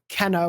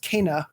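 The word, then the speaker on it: Kena: was a game informer cover story for uh kenna which actually is pronounced kana accordingly according to them but uh they were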